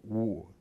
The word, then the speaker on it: Ng: N is a kind of Cantonese word, spelling for Wu. It spells Ng, so that's why she was called Rita no good.